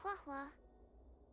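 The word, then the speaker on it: Huohuo: of the 10 Lord's commission my name is huwa okay that's how you say it as a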